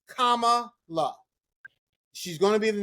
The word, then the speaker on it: Kamala: You can't pronounce that. Kamala, cat. It's very simple.